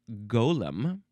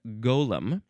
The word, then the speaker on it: golem: For these purposes today, in this episode, for this word, we are going to pronounce it golem. I don't know if that's the most accurate, but that seems right and fine to me.